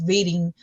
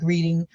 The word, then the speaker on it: Reading: me reading reading or it's pronounced reading um like reading um so they were